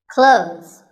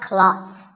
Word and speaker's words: clothes: Clothes. But what's silent here? Well, first of all, this word is not cloths. When we say clothes, the TH in the middle can often be silent. Clothes.